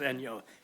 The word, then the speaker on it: Enyo: That's how they pronounce it. It's Enyo. It's Enyos.